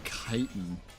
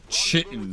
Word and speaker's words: chitin: I don't know why, but I'm honestly just amazed that you know the word chitin. And that you pronounce it like that and not like chitin.